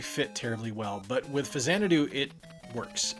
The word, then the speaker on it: Faxanadu: I had no idea that this is how it was supposed to be pronounced, and That's Faxanadu.